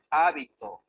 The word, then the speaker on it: hábito: La función distintiva es aquella que el acento puede recaer en la primera, segunda o tercera o cuarta sílaba. Tenemos palabras con funciones y significados distintos. Por ejemplo, hábito, habito o habitó. ¿Ya? La función del acento en este caso es distinguir una de otras palabras.